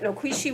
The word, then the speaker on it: noquishi: up with was noquishi the elders or the speakers have told me that that's the proper pronunciation and i'm trying to use it that noquishi was an agrarian community